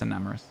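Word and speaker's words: Enamorus: Enamorous. Oh, not Eternatus. Enamorous. My bad, my bad. Yeah. Eternatus is from Sword and Shield. I just said the wrong word, but you're right. It's Enamorous.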